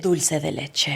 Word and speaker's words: dulce de leche: I know, Can you just say it's the way she pronounced dulce dul- like dulce leche. dulce de leche.